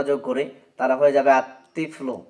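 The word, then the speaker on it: الطفل: করি তাহলে হয়ে যাবে আততিফল এখানেও লামটা বাদ পড়ে যাচ্ছে অর্থাৎ উচ্চারণে আসে না শুধু লেখায় আসছে এরপর দেখেন রজুন এখন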